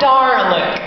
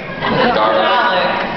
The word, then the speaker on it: Dalek: It's not Darlick. Dalek. Dalek.